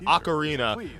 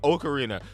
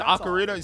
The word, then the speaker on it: Ocarina: More details will be I used to call it Ocarina and I heard people say Ocarina. So now it's it's ocarina.